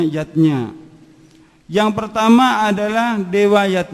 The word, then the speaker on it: yajna: lima macam selamatan zatnya tulisannya yajna Ayah Bunda tapi membacanya yatnya yang pertama adalah dewa